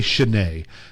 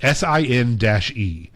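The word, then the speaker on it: Sin-é: I used to say Chennai. I don't know. It's SIN-E.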